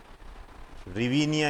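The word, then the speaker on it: hryvnia: इसकी मुद्रा है रिविया रिवी निया इसकी मुद्रा है और इसको जो लिखा जाता है एच आर वाई एच आर वाई वी एन आई ए H silent होता है इसके अंदर एच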